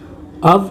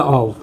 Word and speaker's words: of: इसमें लिखा हुआ एफ है लेकिन साउंड जो है फै की नहीं आ रही, साउंड आती है वै की। इसका प्रोनाउंसिएशन लिखा हुआ है ब्रैकेट्स के अंदर, अव या ऑव। ठीक है, अव या ऑव, हिंदी में भी लिख दिया है अव या ऑव। इसे ऑफ नहीं कहेंगे।